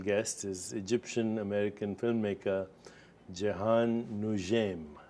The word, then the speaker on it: Jehane Noujaim: my very special guest is Egyptian American filmmaker Jian Nim right pronounce it correctly perfect so um lot's been